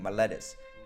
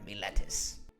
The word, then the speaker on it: Miletus: Unfortunately, my pronunciation is probably shoddy at best, but just think of an angry pirate saying Miletus. Arr, Miletus.